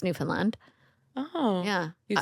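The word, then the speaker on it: Newfoundland: how you say it well you can say New Foundland but it's Newland oh yeah you sound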